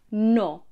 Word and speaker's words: no: not see then no or no is pronounced with rounder lips that stay open no it's not like the English no where your lips begin to narrow and close towards the end of the word it's no no see and no